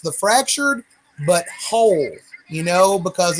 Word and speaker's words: The Fractured But Whole: Well, it's actually pronounced the fractured but whole, you know, because it's like a civil war.